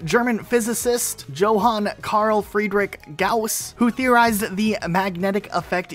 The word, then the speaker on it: Gauss: comes from the German physicist Johan Karl Friedrich Gauss who theorized the magnetic effect used by magnetic